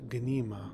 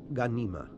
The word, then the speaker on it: Ghanima: pronounces her name as Guinea ma but her name is an Arabic name and it should be pronounced Halima värnamo ghanima her anima in Arabic